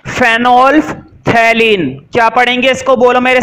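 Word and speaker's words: phenolphthalein: तो देखो इसका कैपिटल सी लिखो, ये होती है स्पेलिंग, मैं पढ़ देता हूं, फेनोल्फथैलीन।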